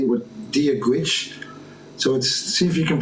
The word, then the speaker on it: Dia duit: So I'm going to say with Dia Gwich. So see if you can pronounce it. Dia Gwich. I'll give it my best try. Dia Duit, pronounced roughly as Dia Gwit.